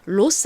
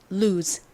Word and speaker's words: lose: 로스 아닙니다, 여러분. Los입니다. 잃어버리다. 따라해 보세요. Lose 좋습니다.